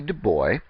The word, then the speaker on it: Du Bois: reading in uh in in undergrad um W.E.B Du boy and that is how he pronounced it so I um uh it's not